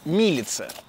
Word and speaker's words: Милица: Меня, кстати, один раз поправили в комментариях, что по-черногорски правильно говорить «Милица».